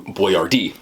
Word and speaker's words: Boyardee: My man Chef Boyardee literally changed his name because he didn't think people were going to pronounce it right. So he made it phonetic. His last name was really Boyardee, but he changed it to Boyardee and put it phonetically, and then put a